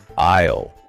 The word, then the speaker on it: isle: Isle. I s L E. That's a small island. Like the British Isles but smaller. A beautiful tropical aisle. Exactly. Think island. The silent s is tricky, but isisle.